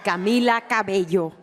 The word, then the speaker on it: Camila Cabello: I like how the voice above said my name correctly. They said Camila Cabello. They never say it like that, so that's nice.